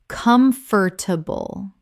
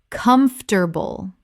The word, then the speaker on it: comfortable: library library Word four: comfortable Common mispronunciation: comf-ter-table Correct pronunciation: comf-ter-ble This is only three syllables in natural speech, not four.